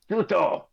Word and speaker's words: Tsuto: You can assume that you just incurred the wrath of Tsuto. Silent T. Goopy goop. Yeah. Silent T it is.